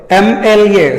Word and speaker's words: MLA: Here we observe MLA starts with M. We think it is a consonant letter, but when we pronounce it, it starts with a vowel sound.